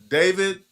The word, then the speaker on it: D4VD: If you guys are not aware, I'm talking about the murder mystery surrounding singer rapper David. I his stage name is D4VD. I never heard pronounced David.